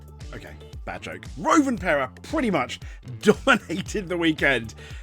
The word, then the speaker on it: Rovanperä: driver, in particular a Finnish Toyota driver that rhymes with Lalapera. Okay, bad joke. Rovanperä pretty much dominated the weekend.